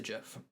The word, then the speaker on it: GIF: It's like where you say GIF or GIF, and I'm like, you're a sinner. It's a GIF. I'm leaving. Creator said it's pronounced like the peanut butter.